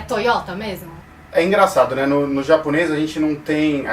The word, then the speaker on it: Toyota: pronúncia de algumas palavras toyota é uma delas eles falam toyota que é sem o acento agudo é por exemplo coisas